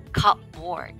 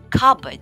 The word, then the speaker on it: cupboard: It may be or it may have the word cup in it, but the P is generally silent. The O is also not emphasized, making the pronunciation a breezy cupboard.